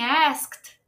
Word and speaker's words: asked: Ed do final mas aqui em asked asked a gente adiciona um sonzinho de t no lugar do Ed Então asked calma aí